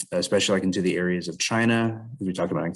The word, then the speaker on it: Qing: the past couple weeks so remember that ancient china was ruled by dynasties or ruling families starting